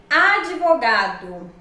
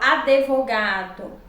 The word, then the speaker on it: advogado: Observem, advogado. Muitos falam advogado.